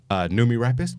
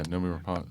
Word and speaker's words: Noomi Rapace: Numi Rapist. Did I say her name right? Yeah, Noomi Rapace.